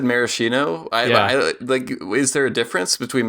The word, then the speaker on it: Maraschino: they're like, oh yeah, the liquor is pronounced Maraschino with the hard like CH or K sound as you would in Italian, but the corruption of